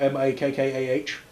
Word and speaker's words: Makkah: If you read Islamic books and stuff like that, it's spelt M-A-K-K-A-H. Because it's not the name of the cities is not actually pronounced Mecca, it's pronounced Makkah.